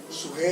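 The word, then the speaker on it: ψυχή: Sujé es la pronunciación antigua en griego.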